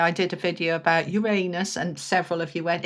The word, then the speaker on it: Uranus: Yeah, I did a video about Uranus and several of you went, "It's not Uranus, it's Uranus." That's the American pronunciation. The British pronunciation is Uranus and I'm British, so actually I was correct.